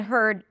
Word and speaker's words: heard: hurt and heart and heard and hard. This is important, the vowel difference. Okay? heard. I heard you and hard should be pronounced differently. The first one has no vowel in the middle.